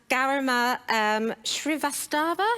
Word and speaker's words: Garima Srivastava: And Garima Srivastava, is that how you say it?